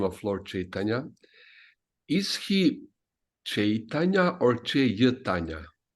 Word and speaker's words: Chaitanya: It's not a separate syllable. It's one syllable. I. So it's one in how to say, in Bengali script, lipi, it's one character. It's not two. So it's Chaitanya.